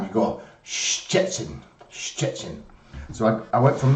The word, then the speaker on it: Szczecin: it, and it's called Szczecin. So where we say like ch or sh, you have to say two of them at the same time. You go Szczecin, Szczecin.